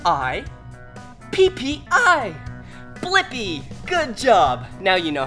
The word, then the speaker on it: Blippi: have to do is search for my name blippy yeah let's spell it together ready b l i PP I blippy good job now you know how to say